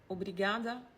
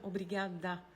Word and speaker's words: obrigada: Par contre, on dit pas obligada pour consig professor de história e geografia muito bonitinho.